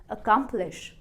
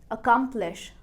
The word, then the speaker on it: accomplish: पर अगर हमने स्ट्रेस किया बीच वाले पार्ट को, अकम्प्लिश, अकम्प्लिश, अब आपकी प्रोनाउंसिएशन लग